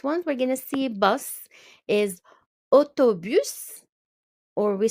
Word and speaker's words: bus: Bus stop, un arrêt de bus. Un arrêt de bus. So for bus, we do pronounce the S at the end.